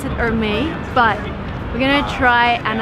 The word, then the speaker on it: Hermès: It's a French brand, so you don't pronounce the H. It's Hermès. Yeah. Hermès. So the correct way to pronounce it, I was wrong. You actually pronounce the last S.